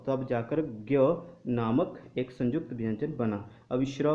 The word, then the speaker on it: ज्ञान: ठीक है, ज्ञान शब्द यदि हम हिंदी में इसको पढ़ें तो हम इसका उच्चारण करते हैं ज्ञान, लेकिन साथियों कुछ संस्कृति के संस्कृत भाषा के जो पंडित हैं, महापंडित, वो आज भी इस शब्द को जनान ही पढ़ते हैं।